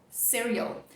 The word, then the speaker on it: cereal: Outro ponto importante aqui é justamente a sílaba tônica, né? Então, em português, cereal. A parte forte está no final. No inglês, a gente vai deixar o início mais forte.